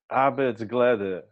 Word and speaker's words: arbejdsglæde: So on the topic and the phrase happiness at work, tell us about arbeidsglæde. Very good. That's very, very good pronunciation.